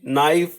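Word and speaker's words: knife: नी, नाइफ, नॉट एंड नो। हमें पता है कि इसमें क्या कॉमन है कि इसमें जो के है वो साइलेंट है, के is silent in these words.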